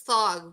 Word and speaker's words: Thog: I start doing weird things like it's Thog. Rhymes with log, not lag.